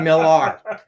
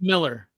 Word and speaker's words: Millar: But it is pronounced Miller.